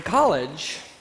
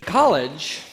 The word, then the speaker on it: college: in carage and then in the North American accent it's pronounced with an a sound and awah for the second syllable so we've got College college College in the British